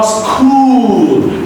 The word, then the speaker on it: school: This is not school. It's a wrong, incorrect pronunciation. All right? So it is school.